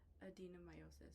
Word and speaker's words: adenomyosis: And, again, I thought you said endometriosis, but it's pronounced endometriosis? Adenomyosis.